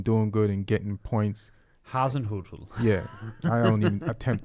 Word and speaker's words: Hasenhüttl: Hasenhüttl. Yeah, I don't even attempt to say his name. Hasenhüttl. No, it's Ralph Hasenhüttl.